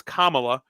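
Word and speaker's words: Kamala: have a press conference with kamla Harris that's kamla um and and and Harris walls banners all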